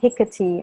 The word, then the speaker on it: Hecate: Okay, so Marissa says Hecate.